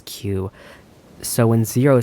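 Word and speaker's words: 九: Another fun thing in Japanese, nine is pronounced the same way as Q.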